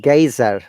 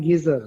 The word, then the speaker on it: geyser: about this pronunciation okay i call it a geyser india u.s english in the uk they might say geezer guys are teaser both are correct depending on where you are